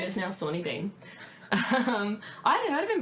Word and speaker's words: Sawney Bean: I have spent ages researching how to pronounce his name, but his name is now Sawney Bean.